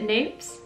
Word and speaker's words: Knoops: Something that is on my wish list for Christmas this year, the Knoops, or is it Noops? Silent K hot chocolate that you can get.